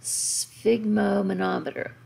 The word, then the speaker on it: sphygmomanometer: your mean arterial pressure you need to be able to pronounce and spell sigmo manometer so if you've ever said the word ralph it has an f sound on the end ralph but it's spelled ralph so here you have a ph it sounds